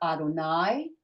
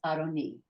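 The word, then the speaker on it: אֲדֹנִי: with a little L because it's not Adonai that would be a capital l it's adoni my Lord the of and so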